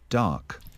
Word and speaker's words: dark: Từ này mình đọc thành O, xong rồi mình sẽ có âm K nữa, nhưng mà chúng ta phải cố gắng phát âm âm K, dark. Ok, dark. Chúng ta không nói dark. Nếu mà chúng ta nói như vậy là chúng ta không nói âm K, bật âm K cho mình.